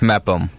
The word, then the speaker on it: Mepham: Is it Mepham or Mepham? It's Mepham. Okay, it's not an F sound from the no. PH.